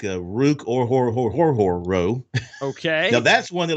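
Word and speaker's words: Orhorhoro: guys like uh rook or horror row okay now that's one that i have a that's one that's hard it's o-r-h-o-r-h-o-r-o and it's pronounced just like it looks or horror but i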